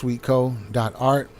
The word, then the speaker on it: swtko.art: So swtko.art, that's pronounced sweetco.art, and enter the code gratitude, and you get free shipping on any orders over $50.